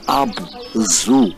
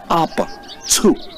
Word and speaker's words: Abzu: And the truth, the right pronunciation is not Abzu as in animal zoo. No, it's Abzu. They pronounced the Z-U as tzu.